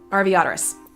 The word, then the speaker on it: Arveiaturace: little uh pronunciation devices i think rv otter race and just quickly shove it together rv oterous and you get the as close as you possibly can there are some slight